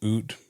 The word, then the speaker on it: oot: Yeah, but I mean, the things that he's saying, oot is just out.